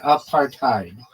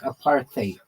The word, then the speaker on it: apartheid: In American English it sounds like apartheid. In bring British English it sounds like aparthate.